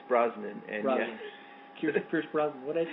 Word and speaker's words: Brosnan: And Brosnan. Pierce Brosnan. What did I say? You say Bronson. Every time you say his name through all the years of us being friends, you always say Bronson, which is fine.